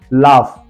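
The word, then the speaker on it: laugh: है फ पढ़ना है let's see some example लाफ टफ कफ एंड रफ चारों स्पेलिंग देखिए लाफ टफ कफ रफ ये सा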